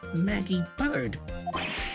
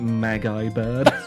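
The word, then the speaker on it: Maggey Byrde: It says right here that it's Maggie Bird. How could you hear my spelling and the way I pronounced it?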